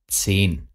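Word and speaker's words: zehn: সেন সেন এটা হচ্ছে টেন এর যে উচ্চারণ সেটা সেন ওকে 14 ফিয়ার সেন ফিয়ার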